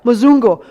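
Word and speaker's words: mzungu: Yeah, Mazungu.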